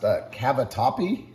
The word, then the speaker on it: Cavatappi: We're using the, I think it's pronounced Cavatappi pasta.